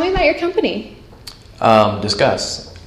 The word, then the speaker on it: Disqus: co-founder and CEO of discuss so tell me about your company um discuss you said it right oh good us people say disuse or discus or something um so discuss is